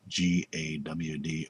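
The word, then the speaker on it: גד: But if you go to Isaiah 65, verse 11, you'll see fortune is GD, and how it's pronounced in Hebrew is GAWD, or God.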